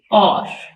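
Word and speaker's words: hour: इसमें T silent है second और घंटा इसमें एच साइलेंट है थर्ड डेट इसमें बी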